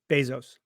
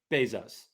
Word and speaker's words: Bezos: Bezos. Bezos.